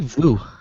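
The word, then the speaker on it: Vue: PlayStation View, the View, is it pronounced View? View. Vui? It's like Voo.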